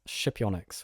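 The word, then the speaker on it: Scipionyx: are you familiar with shipyonyx which is apparently how you pronounce that so it's this incredible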